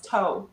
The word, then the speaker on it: TOW: Let's see where toe takes us. As it is spelt, it's TOW. It's not like a toe on your foot, people.